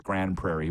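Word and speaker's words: Grande Prairie: and Grand PR Alberta I know it's Grand Prairie but it's spelled Grand prair he says Arash madani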